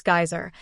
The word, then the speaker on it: geyser: The geyser, a word the Icelanders pronounce geyser, and which signifies fury, rose majestically from its summit.